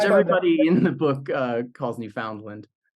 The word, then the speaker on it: Newfoundland: everybody in the book calls Newfoundland, because I thought that was how Ohioans would end up, pronouncing Newfoundland.